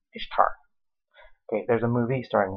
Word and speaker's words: Ishtar: Okay, first off, it's pronounced Ishtar, not Easter, Ishtar.